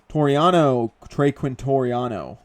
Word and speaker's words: Quintoriano: Trey Quintoriano.